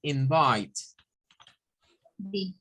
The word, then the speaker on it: invited: The next is invite. D. The D. Okay. And what about that pronunciation? Invite. Invite. Yeah. What? Invited. Invited. We have to add another syllable.